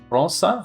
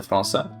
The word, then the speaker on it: França: França? How do you say that The C is just an S when it has the cedilla on it, right? Uh Abel de França.